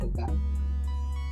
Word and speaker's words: theta: Kemudian dimensinya dalam bentuk theta ya, ini bacanya theta.